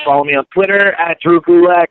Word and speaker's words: Drew Gulak: me on Twitter at drewcoolac that's d-r-e-w-g-u-l-a-k it rhymes with attack also on Instagram same